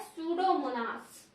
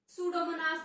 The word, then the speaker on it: Pseudomonas: Bacteria, जिसका नाम है सूडोमोनास। क्या नाम है इसका, PSEUDOMONAS, सूडो। P here is silent, P silent है, सूडोमोनास बोलते हैं इसको, इस